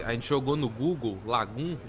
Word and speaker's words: Lagom: Primeiro, que é Lagoon, eu acho que é uma cidade na Suécia, e também é um estilo de vida da Suécia. Se escreve Lagom, mas se pronuncia Lagoon.